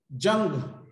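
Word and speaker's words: Ljung: तो अब मॉडल को फाइनल एक हम चेक देंगे, उस चेक में क्या एक जंग बॉक्स टेक्स्ट बोलते हैं हम, इसे एल साइलेंट हो जाता है, इसे हम जंग बोलते हैं।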